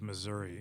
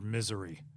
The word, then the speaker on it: Missouri: it comes to the pronunciation of Missouri is it Missouri or Missouri uh I say Missouri it's a great place